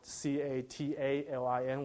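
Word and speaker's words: Catilin: So we formed a company called Catalin. So I was telling Mike that my heart was broken when I found out C-A-T-A-L-I-N was taken, because initially I wanted to say Catalyst and Lin.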